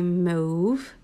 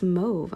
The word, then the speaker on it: mauve: because they're like, it's mauve. I'm like, it's mauve. I'm like, how do you say suave? Isn't it spelled similar with just an S instead of an M?